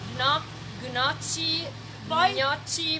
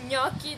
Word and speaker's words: gnocchi: So, small pieces of gnocchi, which in abroad I heard the people call them gnocchi, but it's gnocchi, the real pronunciation.